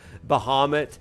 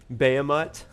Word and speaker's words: Bahamut: I started saying that Bahamut he said um bamat which was great and